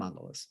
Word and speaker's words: mandala: So yeah, what he's doing, even the tool that he's using, this is how the Tibetans do the sand mandalas. Yeah. Is it pronounced mandalas?